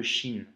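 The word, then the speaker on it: شين: vu aujourd'hui la lettre chine qui s'écrit comme ça comme le cinéma avec 3 points et ça se prononce chat tu vois le sont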